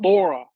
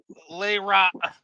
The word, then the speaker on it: Lara: And it's Lara, guys and girls, not Laura. I have to get Yeah. that on the I never knew how to pronounce that, system. so it is Lara. Okay. It's Lara, Lara, not Laura. I don't know why people say Laura.